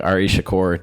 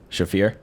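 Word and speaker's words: Shaffir: It's like Ari Shakur. Do you know who that is, the comedian? Yeah, you definitely didn't say his name right, but yeah. What is it, Ari what? Shafir?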